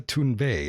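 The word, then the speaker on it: Thunberg: strange and unusual yes a greta tune bae as she calls herself most of the american media does not call her by the the proper name but that's how you say it properly i was a told by another swede recently when she broke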